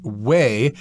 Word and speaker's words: whey: whey or that excess way and way of course is spelled w-h-e-y this reminds me of